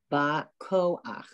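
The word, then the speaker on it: בַּכֹּחַ: Because at the end, remember when you have the letter Chet and you have the patach, the straight line under it, at the end of a word, it's pronounced ach.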